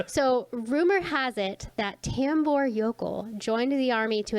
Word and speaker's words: Tambour: of tambor yokel and i'm saying tambor it's spelled t-a-m-b-o-u-r sounds like uh like a bath and body works like uh soap person like a scent yeah center wash my